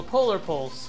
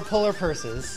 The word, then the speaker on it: Polar Pulse: the two it's annoying also polar pulse which I'll pronounce correctly this time around yes no more polar purses no no more polar purse or polar Porsche so I don't want